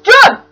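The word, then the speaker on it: Jon: John spelled J-O-N, so I'm gonna pronounce it like John. John.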